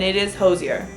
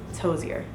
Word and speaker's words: Hozier: Hosier came on stage I also looked up how to say his name I know how to say his name and it is Hosier because his full name is Andrew Hosier Brin and he said it in an interview although he doesn't really care how people pronounce it but if you want to be correct it's Hosier Just Thoughts overall the